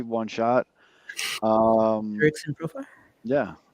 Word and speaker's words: Jurickson Profar: I was thinking about shout out me for pronouncing his name correctly. One shot. Jurickson Profar.